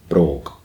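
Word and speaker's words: bròg: when it's like this, the G is usually pronounced with a K sound, so it'd be brogue.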